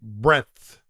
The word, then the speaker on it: breadth: it's hard to pronounce it's Market breadth breadth breath breath right not breath not like breathing breath it's a very unelegant